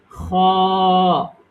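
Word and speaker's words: خ: এরপরে আসুন এই যে এটা খ খ খ খ বাংলায়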